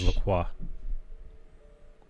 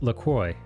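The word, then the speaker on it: LaCroix: the proper pronunciation is Lacoy rhyming with enjoy the name comes from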